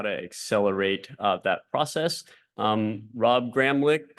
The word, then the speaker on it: Gramlich: Rob Gramlich, that's pronounced with a K at the end, is going to moderate this session.